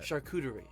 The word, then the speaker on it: charcuterie: Charcuterie board.